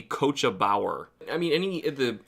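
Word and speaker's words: Cóiste Bodhar: really hard to read, I probably would have said that the coach that the Doulahan rides on is called the Qua Bodhar, but it is apparently pronounced the Coachabower.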